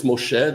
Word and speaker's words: Moshe: It's not Moishe, it's Moshe, the Hebrew pronunciation, not the Yiddish, right?